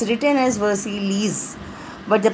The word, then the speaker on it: Versailles: It's written as Versailles, but the pronunciation is Versailles.